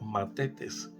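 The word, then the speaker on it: μαθητής: Decíamos que ese término en griego significa o se pronuncia matetes, que el significado de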